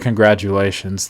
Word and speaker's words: congratulations: so in the word congratulations the tu is like like a jew sound actually kind of